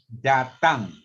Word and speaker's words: datang: So you open your mouth. Selamat datang. Datang. Okay. So you just say tongue. You know tongue? Your tongue? So that's the sound. Okay. Selamat datang.